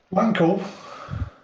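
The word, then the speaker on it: Wankel: Wankle. Yeah, Wankle. Yep. Yeah. I think that's what they called him. Yes, Wankle. You calling a wankle? It's not pronounced with the W.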